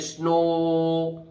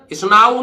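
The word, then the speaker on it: snow: ओ से पढ़ते हैं जैसे स्नो ओड आ स्नो ना नाऊ नहीं है स्नो डब् को आ से नहीं पढ़ेंगे ओ से पढ़ेंगे लास्ट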